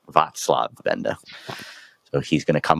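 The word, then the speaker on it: Václav Benda: podcast which we just found out we were pronouncing wrong it's not VAV Benda it's vatslav Benda so he's going to come up some parallel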